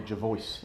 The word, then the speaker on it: Jervois: It's spelt Jervois. Which some people call Jevois. Yeah. Yes, well, those would be uneducated people. Yeah, it's Jevois. Yes, it's Jevois.